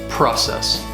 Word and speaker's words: process: The word process has 2 syllables and the stress is on the first syllable, process.